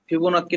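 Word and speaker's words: Fibonacci: হচ্ছে x such x ফিবোনাক্কি number ফিবোনাক্কি double C এর উচ্চারণ ক এর মত এর মত না এর মত এর মত ফিবনাকি নাম্বার কি জিনিস ফিবনা নাম্বার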